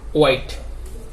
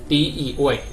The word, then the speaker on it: white: এভাবে আরো অনেক ওয়ার্ড আছে যেগুলো, যে সমস্ত WH ওয়ার্ডের কি হয় না, এইচ উচ্চারিত হয় না। এই সমস্ত ওয়ার্ড আমি কিছু লিস্ট দিচ্ছি। যেমন হোয়াইট, WHITE, হোয়াইট।